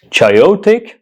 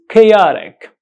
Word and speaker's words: chaotic: you can see here how do you pronounce this word chotic chaotic how do you pronounce it no those two pronunciations were absolutely wrong the correct pronunciation of this word is chaotic chaotic chaotic chaotic chaotic